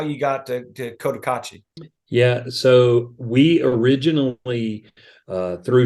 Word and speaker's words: Cotacachi: Cotacachi, is that how I'm saying it right? Yep. So Cotacachi, Ecuador, which I was looking at the map,